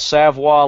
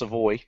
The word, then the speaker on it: Savvo: the gal with with savvo leather not to be pronounced seavo savvo leather savvo leather